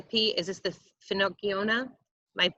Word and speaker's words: Finocchiona: Is this the Finocchiona? My pronunciation is terrible. Yes, this one is the Finocchiona.